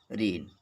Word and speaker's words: reign: अगर यन से पहले जी है तो साइलेंट होता है। जैसे देखें, डिजाइन, DESIGN। दूसरा एग्जाम्पल है साइन, SIGN। रेन, REIGN।